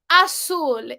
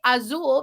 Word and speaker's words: azul: It's a common mispronunciation to say azul because the Z sounds like a harder sound in English, but in Spanish, Z sounds more like an S. So we say azul, not azul, right?